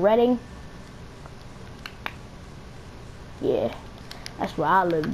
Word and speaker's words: Reading: also knew I'm from Reading PA dude yes sir liber8 I live right down side of silly already you'll be seeing that little place that is spelled reading but it's called reading yeah that's where I